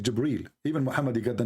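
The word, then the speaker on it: جبريل: here he arrived gabriel it's not gabriel by the way it's jibril even muhammad he got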